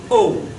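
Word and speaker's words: ו: Now, remember I said that if you have an aleph and a vav with the dot over it, this is simply pronounced O.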